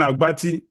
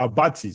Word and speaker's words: Abati: I think that is the major bara luben aati or abati sorry some people have tried to correct me uh um correct me for this uh pronunciation sort of so um